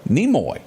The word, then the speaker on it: Nimoy: Also, we lost, and I didn't know this guy's name at all, Simon, how do you pronounce that last name? Nimoy.